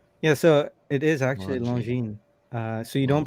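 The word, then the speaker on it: Longines: becomes long genes yeah so it is actually long gene uh so you don't pronounce the g and you don't pronounce the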